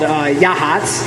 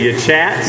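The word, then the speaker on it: Yachats: white he called yeah hots which is spelled Y a CH ATS they have a lovely little brewery so it's built yet chat that's gonna say your chats yeah it's called your chats but it is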